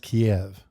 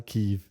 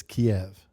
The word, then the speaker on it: Kiev: It's pronounced Kiev. It's not Kev. It's not Kyiv. It's Kiev.